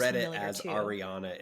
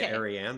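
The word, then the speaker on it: Ariane: sound or it's Arian I I think their names sound soar Ariana in my head every single time but we can say Aran that's fine AR Arya I think cuz it's spelled a r i a n e Aran we'll say Arian sure is that what you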